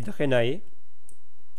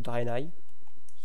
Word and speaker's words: Draenei: Et dans l'Alliance, il y a les humains, les Draenei, ou Draenei, c'est comme vous voulez, il y a plusieurs prononciations.